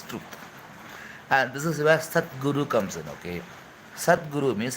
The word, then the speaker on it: Sadhguru: There is a difference between Sadhguru and Satguru, okay? Satguru and Sadhguru is different. Do you did you pay attention to the pronunciation? Okay, Sadguru is a soft consonant. Okay, Satguru is a hard consonant.